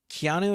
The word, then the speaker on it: Keanu: Keanu, you got it.